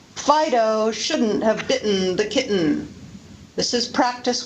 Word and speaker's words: bitten: need to mention that very often the T before syllabic N is pronounced as a glottal stop. Listen to the difference between bidden, bitten, ridden, written, sadden, satin, sudden, sutton, burden, burton, Eden, eaten. The second example is pronounced with a glottal stop.